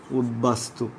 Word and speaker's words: উদ্বাস্তু: চার নম্বর রুলসটা আমরা দেখছি, চার নম্বর রুলসটা দেখো, উপসর্গের সাথে বফলা যুক্ত হলে বয়ের উচ্চারণ হবে, বয়ের উচ্চারণ হবে, যেমন আমরা বলে থাকি উদ্বাস্তু।